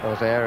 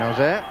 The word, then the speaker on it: Auxerre: Auxerre, as they pronounce it in Auxerre. Auxerre and most of the rest of France.